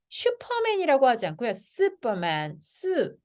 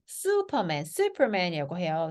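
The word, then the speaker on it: Superman: 요 우 발음 있잖아요. 아이고, 예, 우 발음 있잖아요. 요게요, 얘가 유 발음으로 되지 않고요. 우로 되거든요. 우. 그래서 얘를 슈퍼맨이라고 하지 않고요. 슈퍼맨이라고 해요. 그래서 미국식은 슈퍼맨, 그래서 R이 들어갈 거고, 영국식은 슈퍼맨 이렇게 될 거예요.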